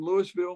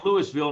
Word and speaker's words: Louisville: it did i'm from louisville mississippi let's say louisville not louisville they say louis we got to pronounce